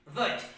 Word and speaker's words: would: Now WOULD, wood.